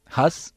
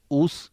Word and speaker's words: ഊസ്: ആദ്യ ജാതനാകുന്നു എന്ന് രേഖപ്പെടുത്തിയിരിക്കുന്നു ഹസ് എന്നത് ഊസ് എന്ന് ഉച്ചാരണം ചെയ്യപ്പെട്ടിരുന്നു പുരാതന പട്ടണമായ ദമസ്കാസിന്റെ സ്ഥാപകനാകുന്നു